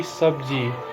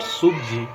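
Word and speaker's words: सब्ज़ी: It should be sabji, not subji.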